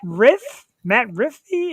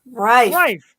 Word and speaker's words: Rife: Apparently, comedian Matt Riffy is coming to Parks Casino. Rife. Okay, Rife.